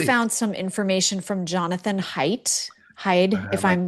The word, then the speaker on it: Haidt: Um I want to switch gears for a second because you found some information from Jonathan Haidt, Haid, if I'm pronouncing that well. Haidt. It's not hate, but it's Haidt's.